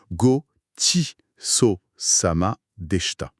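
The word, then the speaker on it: ごちそうさまでした: Gochiso samade Goshiso samade c'est bien ça ? Parfaitement Gisoama. On est sur une prononciation comme Gotios sama dehta et ça c'est pour la fin du repas.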